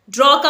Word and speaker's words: dark: DARK, इसमें are silent रहेगा, आप आर को प्रोनाउंस नहीं करेंगे, इसे आप बोलेंगे डार्क।